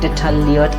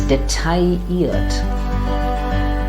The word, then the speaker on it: detailliert: It's not detailliert at all. Rather, it's detailliert. Detailliert. Because that LL just becomes like a ear in French. Yeah, taille.